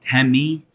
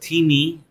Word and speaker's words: Temi: first Timmy I know some people call it Tammy but Timmy is in fact the proper pronunciation and that's our telepresence robot so we